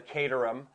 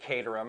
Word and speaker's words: Caterham: Richard Hammond was doing a thing on the katarum and clearly he pronounces it catam and that's the name of a a City